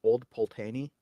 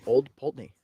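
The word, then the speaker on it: Old Pulteney: I read it I thought it should be pronounced old pany because of the uh the way it's written but it's pronounced old py p l t NE Y and that n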